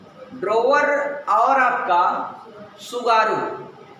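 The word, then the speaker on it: Tsugaru: सुगारू जलसंधि। सुगारू, सुगारू जानते हैं, ऐसे लिखा जाता है। टी क्या होता है? साइलेंट होता है।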